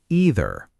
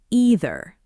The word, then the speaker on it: either: In American English, most people say either with a long E sound at the start. And in British English, it's often pronounced either starting with more of an I sound.